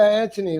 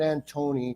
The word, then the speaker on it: Anthony: pronounce it Anthony yeah Anthony like Mark Anthony people say it's pronounced anony an not Antony because then they go